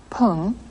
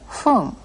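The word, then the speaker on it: 分: we've already learned to indicate minutes you heard not Pung but fun after certain numbers the correct pronunciation of the word for minute is fun Gohan you go home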